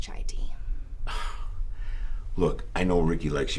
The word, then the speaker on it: chai tea: enjoy my tea huh let me guess Chiti it's pronounced chai tea look I know Ricky